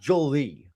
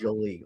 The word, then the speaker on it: Jolie: And by the way, apparently his name is not It's pronounced Jolie. That's what uh uh Enson said on Yamato Damashi. It's not Jolly. It's Jolie.